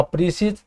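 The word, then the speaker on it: précis: अ precedes जिसको pronounce करते हैं प्रसी।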